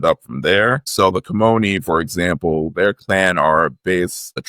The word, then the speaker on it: Kimoni: So let's talk a little bit more about the Kimoni legacy.